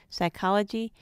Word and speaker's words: psychology: mnemonic or mnemonic and silent P in PT PS and PN as in pterodactyl psychology mnemonic now we'll learn